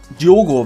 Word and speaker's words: Diogo: Aber ich glaube, ich gehe mal auf Diogo, wird er ja ausgesprochen. Also ist ja ein O drin im Namen.